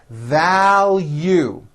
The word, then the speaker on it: value: sp please be specific value there's a strong l and then a hidden y thou you i value